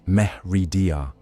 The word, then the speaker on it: Meridia: There he invoked pact with Meridia, pronounced Meh Redar, offering bound souls of his loyal nobles in exchange for luminous legion.